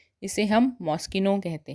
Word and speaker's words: Moschino: MOSCHINO, MOSCHINO, इसे हम मॉस्चिनो नहीं कहते हैं, इसको हम मॉस्किनो कहते हैं। इसे हम मॉस्किनो कहते हैं, मॉस्चिनो नहीं